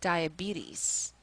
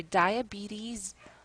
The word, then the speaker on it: diabetes: ate the word and there are two ways to pronounce this word actually and I show both of those to the student so it's either diabetes or diabetes and of course the usual